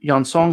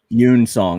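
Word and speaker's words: Yun-seong: uh rocky said i still want to see yon song come back because i like this pop attitude and of course huang and and young song were both cool characters yoon song that's pronounced yoon you're in song yeah yoon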